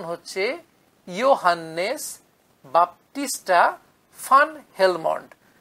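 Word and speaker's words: van Helmont: এরপর জবনিকা উঠল ভ্যান হেলমন্ট। আমরা বাংলায় লিখি ভ্যান হেলমন্ট, কিন্তু প্রকৃত উচ্চারণ হচ্ছে ইয়োহান্নেস বাপ্টিস্টা ফান হেলমন্ট। ভিএন যেটা ভ্যান লেখা থাকে তার উচ্চারণ কিন্তু এক্ষেত্রে ফান, ফয়াকার দন্তের ন।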